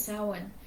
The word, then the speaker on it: Samhain: Samhain, and it makes me crazy when people pronounce it like that, but it's Samhain.